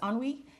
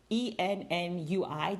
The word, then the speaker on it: ennui: It's ennui, ENNUI. That's a word that I use like in my head, and in my mind it was pronounced like ennui, but I think it's ennui.